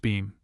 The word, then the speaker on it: Bingham: his mistress, the Honorable Mary Bingham, pronounced Beam, in whose sanctum sat the man on the bleak November evening, and of whom he had just asked advice.